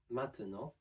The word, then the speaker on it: maintenant: Maintenant contains one E sound right in the middle that we can drop and pronounce maintenant. Maintenant. As you might notice here, the T sound, since it's now at the end of a syllable before the N, is not fully pronounced.